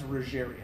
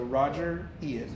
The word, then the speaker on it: Rogerian: have Rogers, Carl Rogers, Rogerian. So Roger Ian, Spell that. R-O-G-E-R, Okay. like Mr. Rogers, like that.